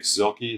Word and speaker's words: Zielke: Today we are meeting with Zielke. Is that how you pronounce it? Mm-hmm. Zielke.